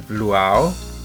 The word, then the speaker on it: luau: well we decid the theme for this party luau is that the right pronunciation right yeah which is a party from